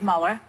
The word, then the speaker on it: Mueller: How do you say his name? Mueller, Mueller, or Miller? Mueller. Mueller, okay.